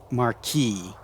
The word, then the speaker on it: Marquis: I don't like that because I'm pretty sure that word is supposed to be pronounced marquee but whatever.